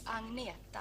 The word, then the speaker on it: Agnetha: How do you pronounce Agnetha? Is that right? My name is Agnetha.